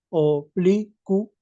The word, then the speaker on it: oblicuo: Ah, entonces tú al pronunciar dices oblicuo. Oblicuo. Ah, entonces hay tres. Ah, en ese caso sería llana. No llevaría tilde. No llevaría tilde. Porque la fuerza de voz está en bli.